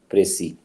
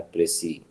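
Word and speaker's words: précis: प्रेसी जो है ना, ये इंग्लिश वर्ड नहीं है, ये फ्रेंच वर्ड है प्रेसी। इसमें लास्ट एस साइलेंट है और आखिरी आई जो है वो प्रोनाउंस होता है प्रेसी, लास्ट बट वन आई जो है।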